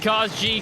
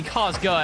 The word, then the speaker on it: Kazga: Sif continuing to be that offensive presence here for Dakota High School, and Kaz G continuing to dish this out to that player. Excuse me, Kazga, as it is pronounced.